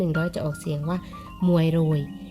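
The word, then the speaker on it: មួយរយ: เอง นะ คะ 100 จะ ออก เสียง ว่า มวย โรย มวย รวย แปล ว่า 100 นะ คะ ต่อ ไป นะ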